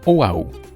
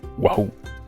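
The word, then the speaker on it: Oʻahu: On retrouve aussi l'apostrophe, qui crée une sorte de pause dans le mot, comme dans Oahu. Sinon, on dirait Wahoo.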